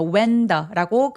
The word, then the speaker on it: when: 자, 그리고 웬은 이게 h가 보여서 웬이라고 발음해야 되나라고 생각하시는 분들 계실 수 있어요. 근데 h는 잘 발음을 안 한다. 그래서 when더라고 그냥 H 없이 발음하시면 되겠습니다.